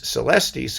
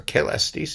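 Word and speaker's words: caelestis: work william mundy's vox patrice celestis or kalestis if you want to pronounce it that way which is amazing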